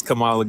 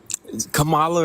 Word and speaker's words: Kamala: terms of the veterans what is what is Kamala gonna do for the veterans I don't know why you keep going out of your way to mispronounce her name Camala or Kamala it doesn't matter you understand it